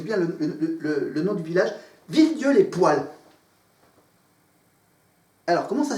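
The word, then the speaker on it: Villedieu-les-Poêles: Villedieu-les-Poils. P-O, accent circonflexe sur le E, L-E-S. Voilà, c'est pas le mot poil comme le poil de chat, poil de chien. C'est un autre poil.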